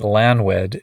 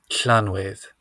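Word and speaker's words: Llanwedd: I believe would be Clan with right so it's like doing it's like you put your mouth in the position for an l and then try to say an s Welsh um I think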